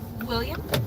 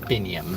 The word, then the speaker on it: Biniam: William? Biniam. Biniam. Oh, Rhymes with William.